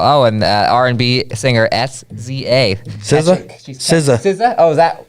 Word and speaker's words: SZA: SZA. Oh, is that how you pronounce it?